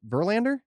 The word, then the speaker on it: Verlander: come in number seven i hope i'm not mispronouncing this justin verlander that's right number seven justin verlander you got